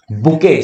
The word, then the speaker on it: bouquet: बुके, spelling ध्यान रखना, BOUQUET, बुके, an arrangement of flower that is usually given as a present.